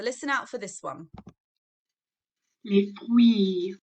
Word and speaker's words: les fruits: Okay, so we don't pronounce the R sound or the T and the S. So my turn, les fruits, your turn. Good, okay, so it's not les fruits, okay, or les fruits, okay, we don't pronounce any of those letters, so it's les fruits, okay.